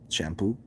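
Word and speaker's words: Champaux: there's there's this dude his last name is shampoo but you got to spell it like um like if you're from new orleans like i think it's a c-h-a-m-p-a-u-x shampoo um any any he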